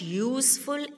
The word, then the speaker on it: useful: Sixth one, dash useful animal. So what will come here, children? A. Why? Because U is a vowel, but the pronunciation of U here is U, that is Y double O.